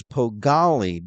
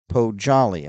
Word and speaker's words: Pojali: Tamborski, and he told me it was Pogali, but you're saying, Mike, it's Pojali.